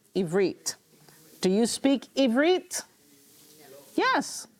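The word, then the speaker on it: עִבְרִית: Ivrit. Ivrit. With the T, with the T. Okay, Ivrit.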